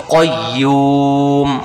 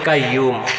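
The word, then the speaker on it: قيوم: তাহলে আমরা বলবো আল হাই ইউল, আল হাইয়ুল, qayyum। qayyum। এই শব্দটা আমরা অনেকে বলি কাইয়ুম, তখন উচ্চারণের ভুল হয়ে যাবে।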